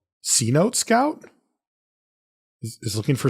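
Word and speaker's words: Cenote: Producer Jeff says it's C-Note.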